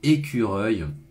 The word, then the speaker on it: écureuil: avec le son U, le son œil ici, le petit R français qui se met dedans, écureuil.